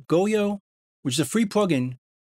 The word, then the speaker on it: Goyo: I think it's pronounced Goyo, which is a free plugin that's still in beta.